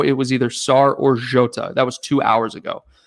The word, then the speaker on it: Jota: we got joto and jyoto jota i'm sorry i pronounced that wrong jota and thiago i i